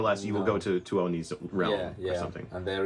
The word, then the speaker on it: Tuoni: So you actually do pronounce like all the vowels. Yeah. You just have to do it in like 1-2 syllables.